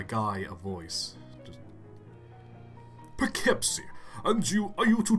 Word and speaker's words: Poughkeepsie: around that hey Mac what town is this keepsake is that how you pronounce that yep be kepsi keep see it's